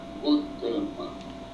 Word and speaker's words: Gautama: né filho do rei o nome dele de buda era gotama escreve-se gautama e pronuncia esse bão esse príncipe que